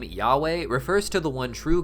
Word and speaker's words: Yahweh: You see, in the Bible, God is often referred to by his personal name written with the letters YHWH, often pronounced today as Yahweh.